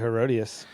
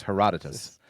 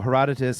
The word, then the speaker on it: Herodotus: her Herodotus you're Herodotus look at I've always pronounced it herodias well let's take a look let's ask let's